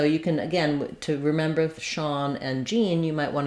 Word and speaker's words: Sean: S-H-A-U-N, S-H-A-W-N, or S-E-A-N, and it has the ah vowel. So I've rewritten that for you here with letters A-W, like in the word law, and this is an example of letter S saying the S-H sound.